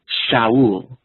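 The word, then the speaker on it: שָׁאוּל: Well, in Hebrew, the word for Saul is Shaul. The word for grave is Sheol. Shaul, Sheol. And in Hebrew, it's spelled the exact same.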